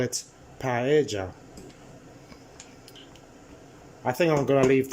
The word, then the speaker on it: paella: to say page paella the elves double L's you pronounce them as a j so don't call it paella call it paella I think I'm Gonna